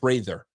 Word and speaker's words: Prather: No, it's not that. It's not how you spell it, brother. Uh, Prather is how you say it.